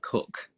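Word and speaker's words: Coke: was just about to as well so Thomas Cook the travel agents also from Melbourne oh yeah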